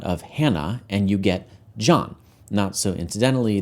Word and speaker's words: John: “Hannah,” and you get “John” (not so incidentally, that stray “h” in there, a letter we don’t pronounce, is left over from the Hebrew like a vestigial organ).